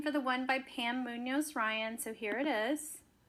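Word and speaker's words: Muñoz: People are often confused by my middle name, Munoz. The N in Munoz, with the tilde over it, should be said as if it were an NY, sounding like this.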